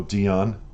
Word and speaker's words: Diane: She's legendary, Diane Warren, or Dion, depending on your pronunciation.